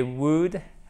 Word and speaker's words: would: ce pays balte spent des wood woods on prononce pas le elle hockey des wood about